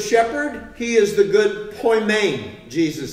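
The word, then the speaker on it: ποιμήν: not an e and an eda is long poi main and it's translated shepherd nearly every time in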